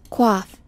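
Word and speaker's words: coif: not use the regular koi did you know that this thing is actually pronounced like this quaff quaff isn't that crazy I got my gear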